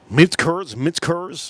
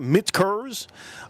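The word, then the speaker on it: Michter's: and $600 for this Mitch Kurz. I like to say it like that. Mitch Kurz. I put a K where the K is not supposed to. There's no K in here.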